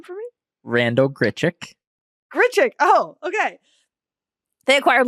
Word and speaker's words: Grichuk: thank you say his name for me Randall grichuk grichuk oh okay they acquired Lucas CJ Cron they have my acquired Randall gitrick you get trick what that's a totally different